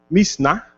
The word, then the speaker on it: Mishnah: Então, anos e anos e anos e anos foram gastos para escrever o Mishnah, essa é a certa pronúncia, e depois o Talmud.